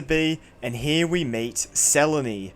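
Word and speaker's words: Selene: and here we meet seleny yes I know her name is spelled Seline but she literally says herself that the way you say it is seleny this is selon sel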